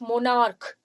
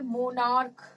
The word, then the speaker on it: monarch: as hard k, like monarch. Okay, you say monarch, you don't, the sound of ch here and ch here is not same. Match and monarch, here it sounds like k.